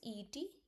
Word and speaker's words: et: A means e t. E t the word means and pronounced like e only.